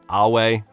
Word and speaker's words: Ave: like a distinction of some characters knowing the pronunciation of Caesar as Kaiser, and of course Ave Caesar, Awe.